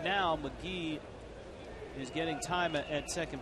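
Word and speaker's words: McGehee: the Cubs organization and he does pronounce his name McGee got to the big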